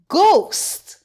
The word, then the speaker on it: ghost: G H says G. The H is silent. Gost ghost.